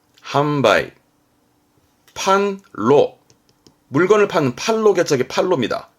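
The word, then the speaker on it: 販売: 팔판자입니다 판매하는 판자죠 한자 많지 않아요 이게 판매 발음은 한바위 함바이 판로 물건을 파는 팔로겠죠 팔로입니다 발음은 한로 한로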